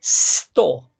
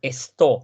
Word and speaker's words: stå: Olvídense de la E. Es un sonido de serpiente, habíamos dicho, ¿no? Sto. Para que no me digan esto, sino que sto. Subjektet och verbet måste stå intill varandra i huvudsatser.